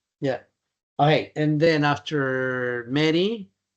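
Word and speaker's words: Mery: M E R Y. Like Mary. My dad misspel it like used to but like Mary like the Virgin Mary but he spell it with an E.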